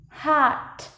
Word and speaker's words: hot: Cái âm A ở trong tiếng Anh nó khác với trong tiếng Việt. A ở trong tiếng Việt mình sẽ nói là A, A. Nhưng còn A ở trong tiếng Anh nó sẽ mở dọc khẩu hình miệng nhé. A, A. Đúng rồi, mở dọc khẩu hình miệng này. A, hot.